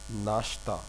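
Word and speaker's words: ناشتہ: they are using breakfast, they are not saying nashta, because we always use in our family, uh,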